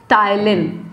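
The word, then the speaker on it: ptyalin: बेटा टाइलिन, ठीक है, टाइलिन, और एक होता है लाइसोजूम। अब टाइलिन को टाइलिन ही कहा जाता है, पी साइलेंट होता है, लाइसोजोम को भी लाइसोजोम ही कहेंगे हिंदी में, ठीक है।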